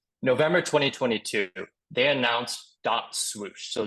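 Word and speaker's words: .SWOOSH: 2022 they announced dot swoosh so this is pronounced whoosh there's a DOT or a period Then swoosh all capitalized I'm not yelling at you with swoosh that's actually the way they spell it again different generation different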